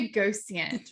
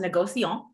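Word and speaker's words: négociant: but what is the negotiate what what exactly does that mean yes so it's pronounced negocion okay is definitely a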